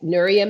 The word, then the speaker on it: Nuria: Yeah, Nuria means light.